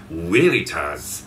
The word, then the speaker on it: Veritas: is actually from a Latin word which is pronounced as weitas and uh there's also a line that says